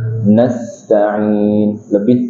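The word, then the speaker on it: نستعين: Contohnya umpamanya bacanya iyyaka na'budu wa iyyaka nasta'in. Nasta'in niku kiram. Di mana rikhwahnya? Harusnya nasta'in lebih dialirkan.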